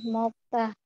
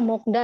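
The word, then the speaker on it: 먹다: Nih, mokta. Jangan lagi ada yang bacanya mokda ya. Kalau ada yang bacanya mokda keterlaluan, bacanya mokta. Ini mok. Emang bacanya secara tulisan mokta, tapi udah ada hukum bacanya jadi mokta.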